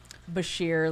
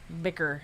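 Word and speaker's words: bichir: How do you say it? Bashir, like Zen said Bashir. Bashir. I think that's a common one. Sheer. Bicker. I hear people say that a lot, and it bothers me for some reason.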